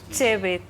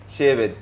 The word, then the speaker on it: Chebet: If you want to say it properly, say Chebet. Pati? Chebet. Chebet. Chebet. Chebet. Not She. Chebet.